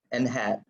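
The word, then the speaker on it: n̂: a number and have that's how you pronounce this in math world because it's like it's wearing a little hat right like that so n hat right so we compute a number n hat that estimates n using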